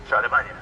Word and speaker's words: Charlemagne: Did I pronounce that right? Charlemagne? Yeah. Charlemagne.